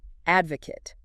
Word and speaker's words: advocate: Advocate. A-D-V-O-C-A-T-E. Advocate. 3 syllables. Stress on the first this time.